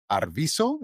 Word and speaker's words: Arvizo: we're starting and I want to welcome Edward Arviso. Is that how you pronounce the last name?